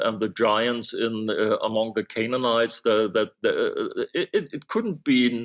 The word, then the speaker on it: Canaanites: the Canaanites, or yes, how is it pronounced in English? Canaanites.